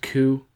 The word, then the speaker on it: coup: We haven't really talked much about Venezuela since the failed coup. Did I say it right that time? Coup? Yes, dear.